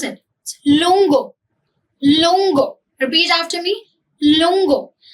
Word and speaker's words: lungo: आगे देखते हैं how do you pronounce it? Lungo, lungo, repeat after me, lungo।